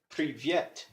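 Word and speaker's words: привет: stressing the first syllable privyet and I was actually surprised when I saw that the stress marks in Russian gram it's actually stressed privyet so now I practice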